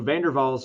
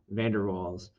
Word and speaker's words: van der Waals: um we call these i'm i'm trying to pronounce this rock right i this is dutch and i'm not very um good with that language but uh van der waals balls i think is